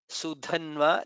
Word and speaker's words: सुधन्वा: Sudhanva, Dha is Mahaprana.